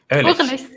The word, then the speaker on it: Urlichs: If you can pronounce my last name. No, sorry. Ehrlich. Yeah. Ehrlich.